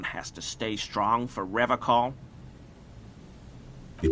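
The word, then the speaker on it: Revachol: I've been tempted on occasion, but someone has to stay strong for Revacol. He pronounces Revacol with a hard K, unlike other people.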